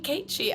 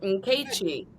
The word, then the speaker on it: Nkechi: It only took me an hour and 45 minutes to figure out how to properly pronounce the name. And she's like, just call me Keiichi. I'm like, no, Nkechi.